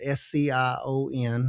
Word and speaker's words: scion: tree, the scion wood, s c i o n. My Appalachian, I have to spell that out because it sounds like I'm saying sign wood, s i g.